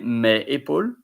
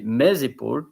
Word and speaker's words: mes épaules: You don't say mes épaules, M-E-S. You say mes épaules because there is a link to make pronunciation between the S and the vocal.